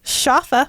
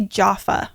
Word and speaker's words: Schaffa: me consult my notebook shafa shafa only one of the main characters good old shafa um i always want to say jaffa and i don't know if that comes from somewhere else no no you're thinking